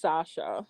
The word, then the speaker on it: Sasha: Sasha, is that how you pronounce it? It's pronounced Sasha.